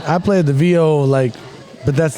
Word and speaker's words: viol: What is a viol?